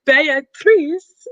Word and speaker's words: Beatrice: is um or beatrice is how you pronounce it in italian i just learned that